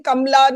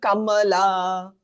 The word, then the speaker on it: Kamala: name properly even she has stopped saying kamla now she calls herself Kamala dud it makes no